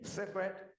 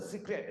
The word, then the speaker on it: sacred: Therefore, both topics, understanding karma and understanding Buddhist ethics, are extremely sacred. Pronunciation I have, okay. This is S-A-C-R-E-D, not the secret, okay? Sacred.